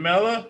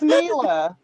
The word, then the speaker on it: Mila: yourself pronounce my name it's mila mila you just you just